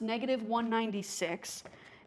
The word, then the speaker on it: -196: It's pronounced -196.